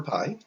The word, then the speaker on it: pi: is p i for pi but i put the note it's pronounced pi like like pie that you eat or anything like that